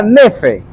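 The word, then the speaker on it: νῆφε: La palabra sobrio en el contexto del griego se pronuncia nefe, que significa estar libre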